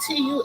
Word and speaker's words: tulle: It rhymes with tool, like tools in a shed. But it's fabric, and it's spelled Tulle.